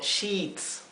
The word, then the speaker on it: sheet: Sheet o sheets, ¿sí? Por eso aquí lo he escrito con dos I, para que sepan que es una I larga, sheet.